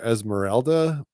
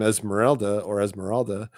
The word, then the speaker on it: Esmeralda: But what I want to get at is this character Esmeralda. So for starters, people say her name used to be Esmeralda, like ELDA, but now it's ALDA.